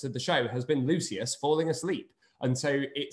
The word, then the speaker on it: Lucius: the show has been lucius falling asleep and so it seemed the most inevitable and natural thing in the world especially because the name scans lucious two syllable strato two syllables it wasn't doing any